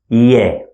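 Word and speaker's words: ي: And the last letter in Arabic looks like this, and we pronounce it as Ye, Ye, like Y sound in English, Ye.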